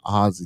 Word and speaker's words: Aussie: So you saying pronounce it like OZ, like the Wizard of Oz, not AU, because I was pronouncing Ozzy like it as an AU, like Yeah, I was saying.